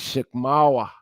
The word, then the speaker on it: Chickamauga: Sheikh Moors we know Chickamauga is Sheikh more because the g is silent is Sheikh mawa it's the same as